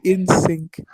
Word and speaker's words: Insuk: It's Insuk, by the way. Based. One Pretty based. Insuk. It's Shut up, pronounced in sync.